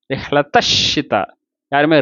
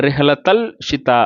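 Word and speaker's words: رحلة الشتاء: ரிஹ்லத்த ஷிதா, யாருமே ரிஹ்லத்தல் ஷிதா அப்படின்னு ஓதுறது இல்லை. ரிஹ்லத்த ஷிதாயி வஸ்ஸைஃப் அப்படின்னு ஓதுறோம்.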